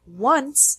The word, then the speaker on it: once: The words one and once are interesting because they begin with a W sound, even though there's no W in the written form.